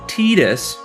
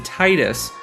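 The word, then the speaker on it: Tidus: in some media and it always ends up being pronounced as tetus rather than Titus or anything else with the most notable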